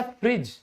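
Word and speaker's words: fridge: Budget फिर है फ्रिज। तो आप सबके घर में भी यह फ्रिज है। आज आपको पता चला कि इसको हम साइलेंट क्यों करते हैं? ड क्यों नहीं बोलते?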